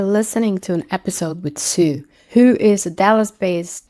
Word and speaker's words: Su: Didn't ask you for your the pronunciation of your name. Oh, no. Totally fine. So, first name is just Sue.